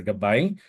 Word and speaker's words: GabAI: Usually, people would call it at the first as GabAI. We're pronouncing it as a GabAI, which is the Filipino word for guide.